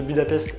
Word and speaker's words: Budapest: Et on retrouve aussi Natasha à Budapest, parce que oui, pendant tout le long du film, elle dit que la prononciation de Budapest c'est Budapest.